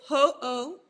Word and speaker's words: Ho'oponopono: it's Ho'oponopono. So ho, like Ho, apostrophe O, and then pono is Pono.